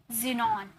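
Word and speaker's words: xenon: rule number second देखिए, rule number second है, word के शुरू में अगर एक्स आ जाए तो उसे ज में प्रोनाउंस करते, ज में प्रोनाउंस करोगे, ओके, ज नहीं ज, जैसे जाइलम, जाइलम, जिनॉन, एक्सरे, यहाँ पर तो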